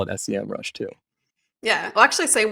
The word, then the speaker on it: Semrush: ahrefs or your semrush i think it's semrush now it used to be like the capital sem and then rush i'm sure everyone pronounced it sem rush but it's kind of like one of those brands that now all of a sudden they call it semrush so who knows what it actually is but i used to